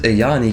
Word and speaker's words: Ajani: The third one is another Ajani booster, or Ayani. We pronounce it Ayani because it's Dutch, right? We speak Dutch in here. So we say Ayani, but it might be Ajani.